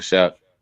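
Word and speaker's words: Shough: Shook Shook. Shuck. Am I saying it right? Yeah. Tyler Shuck.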